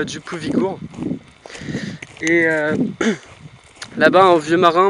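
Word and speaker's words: Djúpivogur: Je vais aller voir un petit village portuaire, Djupovigur, prononcé Djupovigur.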